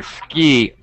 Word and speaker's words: ski: oh sounds great okay but one thing ski ski it's a long e sound EEE better okay good alright that